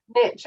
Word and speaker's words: niche: the niche you want niche i'm going to say from now on because it rhymes with rich the niche that you